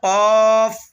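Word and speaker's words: ق: এসেছে এটার নাম হল কফ কফ কফ কফ উচ্চারণের সময় গোলা থেকে একটা ধাক্কা হবে কফ কফ এরপরে দেখতেছেন যে আলিফ এবং ছোট্ট একটা টান রয়েছে।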